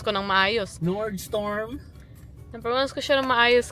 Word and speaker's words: Nordstrom: Ayan o basahin niyo yan nordstrom ra ngayon pronounce ko ng maayos nord storm na ko siya ng maayos kasi nababasa ko